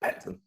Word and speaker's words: Pattinson: You just say it quickly. Yeah, Pattinson. It's just Okay. Pattinson. You say it quick. Pattinson. Like it's spelled.